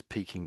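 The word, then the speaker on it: piquing: So I've just I've just put another word on the screen and the so these two words are basically pronounced exactly the same.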